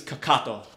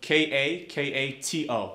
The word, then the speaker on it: kakato: In Japanese it's kakato. K-A-K-A-T-O.